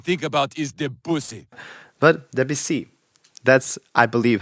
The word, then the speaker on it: Debussy: It's called Debussy, so it's not even like how they pronounce it in Family Guy.